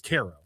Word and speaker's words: Cairo: Like, my god, that's it's Caro. Is it Caro? It's Caro in Missouri. Um Oh, it is. Yeah, it's New Madrid. It's Ko. It's not Cairo.